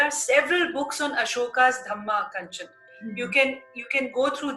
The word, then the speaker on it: Dhamma: In Pali language, dharma is pronounced as Dhamma, Dhamma.